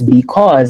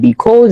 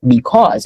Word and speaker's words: because: Like I was telling you guys, the AU in English is a O sound. Like that's why I told you guys it's because and not because, it's because, right?